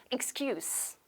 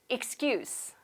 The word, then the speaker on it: excuse: 자, 우리 변명이나 핑계를 나타내는 이 단어는 excuse가 아니라 명사기 때문에 S 발음으로 하셔야 됩니다. 발음할게요. excuse, excuse.